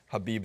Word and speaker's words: Khabib: It's not the easiest name to pronounce. Not pronouncing the K. But he will Khabib.